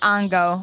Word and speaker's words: Ongo: It's so Ango? awesome. Gablogian. What is Oh, We were- I yeah, was- that's I was familiar. Gablogian. Yeah. Ango Gablogian. No, Dinah Schmitz is He might better. pronounce it Ongo, Ongo.